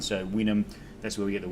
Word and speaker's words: vinum: Vinum obviously is vinum, but until the Greeks got involved, the Romans had no pronunciation of a V. So any V you see in Latin is a W sound. So vinum, that's where we get the word vinus, wine, from.